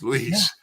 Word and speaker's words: Luis: my mom's and and he was like Luis and I was like yeah yeah it's lease and then from that